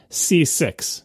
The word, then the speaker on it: CCIX: don't know anyway and it's pronounced C6 if you thought Mac